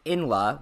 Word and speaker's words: Inla: For those who don't know, in the clip Kumo's responding to, I'm talking about a comment Inla, which is how I've been told it's pronounced, and I apologize for mispronouncing it previously, left on my one-shot on Zay.